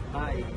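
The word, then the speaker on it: BAIC: This is Paano ba iung pronounce to? Bike.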